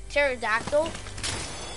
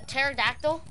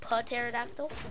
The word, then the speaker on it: pterodactyl: I don't know but at the beginning of the pterodactyl there's a pea but since the P is silent you can't hear the Pete since this pterodactyl not PO pterodactyl so that's why I